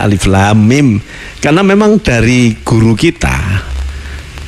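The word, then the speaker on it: الم: lam dan mim tidak dibaca Alama tapi dibaca Alif Lam Mim karena memang dari guru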